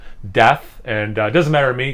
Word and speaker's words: Deth: i just talk about how it's actually pronounced death and uh doesn't matter